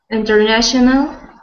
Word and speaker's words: international: it um next one international good good so when we say that word we we put the stress on the na we put the stress on the syllable that is na and also when you